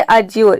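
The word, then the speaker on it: adjure: नियमित करना नेक्स्ट है अजोर इसमें भी देखिए डी के बाद जे आ रहा है और यहां पर डी साइलेंट है अजोर मतलब होता है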